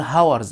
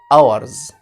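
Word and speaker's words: hours: ها مش هقول ايه مش هقول هاورز لا ما بقولش هاورز الاتش سايلنت يعني بكتبها بس ايه ما بنطقهاش يبقى اقول ايه اورز اورز اورز طيب وتاني ملحوظه عندنا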